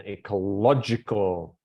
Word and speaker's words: ecological: Where is the stress in ecological? How many syllables? Ecological. How many syllables? 5. 5. Where is the main stress? Low. Low. Low. La. So that's on ecolo. 3rd syllable, right? Developed.